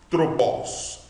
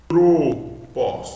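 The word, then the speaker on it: ἄνθρωπος: Estou lendo bem devagar para que você observe a pronúncia. Antropós. Então aqui nós temos uma vogal, uma sílaba com uma vogal que pode ser longa ou breve, mas na próxima sílaba que nós estamos querendo já mostrar para você, a sílaba pro, veja que nós temos um ômega, então a vogal é fechada. Pro. E a outra sílaba, pós.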